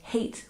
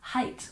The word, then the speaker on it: height: end with t and it may look familiar with the EIG G as in the number eight but we don't pronounce it like hate we pronounce it height with the long eye sound height height for example